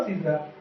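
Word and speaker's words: scissors: ठीक है फ्रेंड, ऐसे सीजर में ये क्या, सी क्या हो जाएगा, ये भी साइलेंट हो जाएगा। ठीक है, इसे बोलेंगे केवल सीजर।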